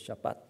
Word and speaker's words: Shabbat: of the Hebrew okay so in Hebrew it is just Shabbat so Hebrew usually the action is on the last of the last vowel okay so it is Shabbat okay and the meaning